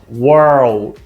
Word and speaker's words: world: World, world. E aí eu vou jogar meu D. World, world. Você dá uma com a boca e dá uma enrolada na língua.